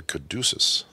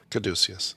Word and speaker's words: caduceus: stuck on the spelling because it's not phonetically spelled the way it uh sounds so um the caduceus